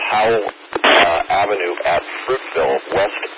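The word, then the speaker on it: Houle: obstructing the street at ho u l e I believe that's pronounced how uh Avenue at Fruitville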